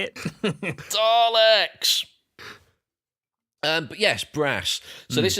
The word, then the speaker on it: Daleks: Particularly liked it when they were talking about the Daleks. No, the Daleks.